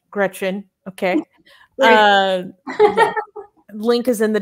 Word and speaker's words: Greczyn: This is pronounced Greczyn.